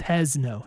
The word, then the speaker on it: Hezno: Oh, it's Hezno.